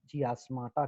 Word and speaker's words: chiasmata: को, उस पॉइंट को हम लोग कहते हैं चियास्माटा कहते हैं। CHI, है ना, आपको स्पेलिंग भी बताया मैंने, CHIASMA, चियास्मा भी कहते हैं प्लूरल में और चियास्माटा कहते हैं आपको सिंगुलर में।